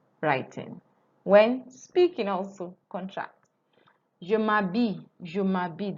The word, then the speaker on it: je m'habille: The H is not pronounced as usual. That's why you're hearing ma, because I'm doing m'habille. Je m'habille. And here is not pronounced L, is y, y, y.